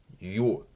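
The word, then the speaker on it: Ю: After that, we have you, which does change pronunciation maybe a little bit. Again, it's maybe slightly diminished, but again, notice that difference in the Russian, the vowel sound.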